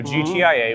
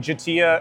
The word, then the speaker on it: GTIA: the new brand of GTIA. What was once CompTIA is now GTIA. You say the letters. Yeah, you say the letters cuz we tried pronouncing Jatia and we were told explicitly that is not correct.